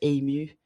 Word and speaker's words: ému: learned just last year, ému. E with the little slash going up to the right, accent aigu. MU, and it's like you're overwhelmed with emotion. Ému. I'm probably pronouncing it wrong, but it looks better like than emo.